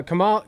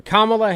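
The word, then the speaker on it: Kamala: the VP for uh Kamal sorry still fixing the the pronunciation kamla Harris the VP for kamla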